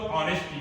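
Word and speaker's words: honest: आवर, इसका उच्चारण honourable, ये ऑनरेबल हो गया, ये आवर, और ये ऑनरेबल, ये इसका ऑनेस्ट।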